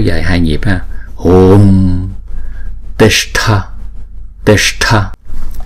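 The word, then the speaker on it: tiṣṭha: Chữ s có dấu nặng thì chúng ta uống cong lưỡi lại và búng ra sha sha. Và chữ th có dấu nặng là chúng ta đọc là thở, uống cong lưỡi lại và búng ra thở, thở.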